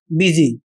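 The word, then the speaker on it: busy: उदाहरण के माध्यम से इस शब्द का उच्चारण होगा बिजी और इस शब्द का उच्चारण होगा बिजनेस। अब यहां पर आप समझ सकते हैं कि यू का उच्चारण यहां पर इ हो रहा है और इसका कारण यह अपवाद के रूप में है।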